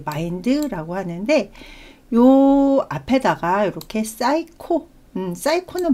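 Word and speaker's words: psycho: 하는데요 앞에다가 렇게 사이코음 사이코는 많이 들어 보셨죠 그래서요 피는 묵음이 되고요 싸이코라 어근을 사용을 보면은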